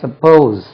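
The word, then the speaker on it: suppose: பெண் வச்சுக்கிறோமேன்னு சொல்றோம் இல்லையா சப்போஸ் சப்போஸ் உச்சரிப்பு கவனிங்க சப்போஸ் சப்போஸ் இல்ல சப்போஸ் z-ல உச்சரிக்கணும் எஸ் யூ பி ஓ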